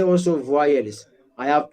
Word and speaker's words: voyelles: Voyelle, S is silent.